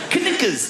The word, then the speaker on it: knickers: Why would a K be silent? Knickers.